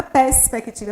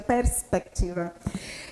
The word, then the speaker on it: perspectiva: Eu pronuncio o R, apesar de as pessoas errarem. Eu tenho perspectiva. Não é perspectiva, é perspectiva. O C também pronunciado.